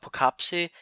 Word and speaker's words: Poughkeepsie: This next one is a somewhat interesting movie, somewhat well known, and I believe the pronunciation is Poughkeepsie, the Poughkeepsie Tapes, from 2007.